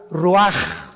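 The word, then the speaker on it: רוח: Roach así como suena se pronuncia la c en hebreo como J ruaj se le salló y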